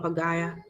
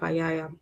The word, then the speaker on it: Pagaya: ieke mi payaya wala pagaya. I think it's an error, it's a spelling error. Omako ke pagaya, not payaya.